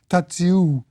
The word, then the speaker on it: Tadziu: kind of howl, and a long-drawn ooh sound at the end, and that's the way Tadzio's name in German goes, apparently, or in Polish, Tadziu.